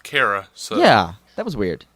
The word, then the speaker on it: Kara: Yeah, but she still keeps calling her Kira instead of Kara.